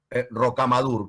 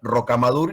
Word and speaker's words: Rocamadour: Y a mí me cuesta muchísimo leer Rocamadour y no Rocamadour, que es como lo pronuncia Julio cuando lo lee, dice Rocamadour.